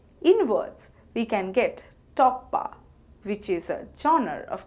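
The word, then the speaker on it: টপ্পা: In words, we can get Toppa, which is a genre of classical music. It is pronounced as Top Pa and spelled as To Poi Poi Akar, Toppa.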